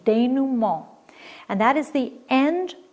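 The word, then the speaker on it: dénouement: french and it's pronounced de numer it's a french pronunciation de numer and that is the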